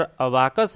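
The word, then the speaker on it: abacus: World का पहला computer अबाकस है, जिसे गिनतारा कहते हैं। कोई अबेकस भी इसका प्रोनाउंस करता है।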